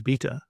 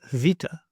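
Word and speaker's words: βήτα: This letter you may know as beta, but actually it is vita.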